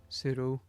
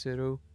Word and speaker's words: pseudo: a pseudo tracking shot spelled ps uh where i've lost on my page e u d o sudo i think that's pronounced pseudo tracking shot which apparently